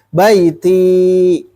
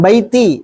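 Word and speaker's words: بيتي: Tapi panjang ya. Baiti. Jangan baiti, tapi baiti.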